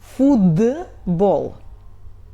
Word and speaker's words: футбол: For example — футбол . We have Т and write Т — футбол but Т is before voiced consonant Б so we pronunciate it like voiced — .